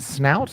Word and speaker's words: Snout: So now you have u is it snout? How do you um how do you say your website? Sn a snout.